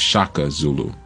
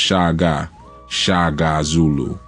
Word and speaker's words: Shaka Zulu: So if you're wondering who I'm talking about, many refer to him as Shaka Zulu, but his name was actually pronounced Shaga Zulu.